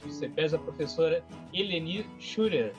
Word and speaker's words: Schurer: aí, a presidente do CEPES, a professora Eleni Schurer. É assim que se pronuncia, professora?